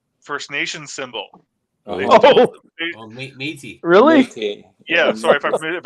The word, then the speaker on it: Métis: issues because the new Meta symbol is the Medi First Nation symbol. Métis. Really? Métis. Yeah, sorry if I mispronounced it, but yeah.